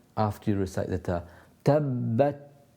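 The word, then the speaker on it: تبت: Tabbat, just a little burst of air at the back of your hand. You should be able to feel that. Sometimes people have too much. Tabbat, that's too much. So you need to lessen that, but have a burst of air and make it audible.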